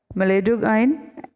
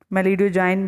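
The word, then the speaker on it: Meloidogyne: तो उस नेमाटोड का नाम था एम इनकॉग्निटा, एम इनकॉग्निटा या मेलिडोगाइन इनकॉग्निटा। मेलिडोजाइन भी कह सकते हैं, गाइन भी कह सकते हैं, मेलिडोगाइन इनकॉग्निटा।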